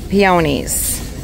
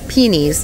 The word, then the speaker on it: peony: And then peonies, or peonies, depending on how you say it. I say peony.